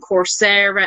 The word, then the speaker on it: Coursera: Coursera, is that how you say it? Coursera, that's it. Or I might be just saying it the Irish way. I don't know. Coursera. It's course, COURSE, and then RER.